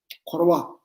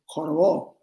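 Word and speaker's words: འཁོར་བ: Korwa, going around in a circle, wheel of life. Tibetans, we say korwa. Mongolians say korwo, korwo, korwo. Same thing, Tibetan word, they pronounce differently.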